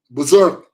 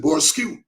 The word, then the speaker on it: berserk: That is what caused the government to go berserk. And you know the word berserk. If you look at the spelling, one man looked at the spelling and he pronounced it Borskew. Berserk.